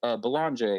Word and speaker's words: Belanger: How do you say your last name?" And he goes, "Belanger." And I was like, "Dude, I'm sorry. I've been butchering your last name this whole episode." He goes, "You're American. It's okay." He's Canadian. So he's like, "That's how Americans say it.